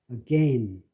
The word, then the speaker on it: again: 여기에 이게 again이라고 한국 사람이 많이 발음하는데 again이 아닙니다. 이게 again, again. AI가 그 A로 발음되는 거예요.